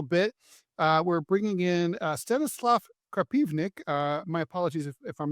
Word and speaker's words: Krapivnik: we're bringing in Stanislav Krapivnik. My apologies if I'm not pronouncing your name correctly. He's a Russian-born military. Is that correct? Close, close. Krapivnik. Krapivnik. Well, if you're into the Russian process, Krapivnik.